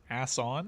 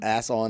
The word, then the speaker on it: Asson: worst Ishmael Assan sees some something else lunch asson asson is it's spelled exactly like that as SS O N